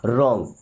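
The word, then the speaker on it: wrong: यह is means है रॉन्ग। देखिए मैंने क्या बोला था कि आर के पहले डब्ल्यू आएगा तो डब्लू साइलेंट रहेगा ना। इसे पढ़ते हैं रॉन्ग।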